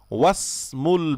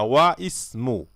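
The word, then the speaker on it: وَاسْمُ: যেমন দেখেন ইসমুল ওয়ালাদি, ছেলেটির নাম, মুহাম্মাদুন, মুহাম্মদ, এখানে কিন্তু মাঝখানে আসছে, সেজন্য ওয়াসমুল বিনতি জাইনাবু, এবং মেয়ের নাম জাইনাব। এখানে আপনি আলিফটি উচ্চারণ করবেন না, ওয়াসমু, আপনি বলবেন না ওয়া ইসমু, আপনি বলবেন ওয়াসমুল বিনতি জাইনাবু।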